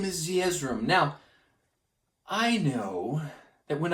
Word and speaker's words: Zeezrom: It's Zeezrom.